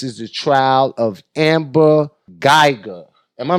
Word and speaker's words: Guyger: America, and this is the trial of Amber Guyger. Am I saying her name right? Absolutely. Let me pronounce it right. Convicted felon murderer Amber Guyger.